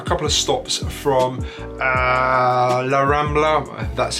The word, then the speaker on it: La Rambla: It's pretty easy, it's well connected, it's about a couple of stops from La Rambla, that's how you pronounce it.